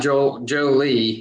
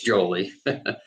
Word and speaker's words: Jolie: oakley oakley and julie so it's not it's not joe lee it's jolie jolie right exactly but you